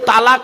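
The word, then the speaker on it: طلاق: তার স্ত্রীকে ডিভোর্স দেয় একটা শব্দ বলে আরবিতে তালাক বলে না বাপ হ্যাঁ বলুন না বাবা কি বলে শব্দটা শব্দটা কিন্তু তালাক নয় শব্দটা তালাক নয় এই মা বোনেরা শুনে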